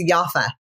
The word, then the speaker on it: Yaffa: What's your last name? Thanks so much. It's Yafa. Yafa. Yeah. See, that's interesting. I'm sure there's not many Yafas. Is Yafa a popular name?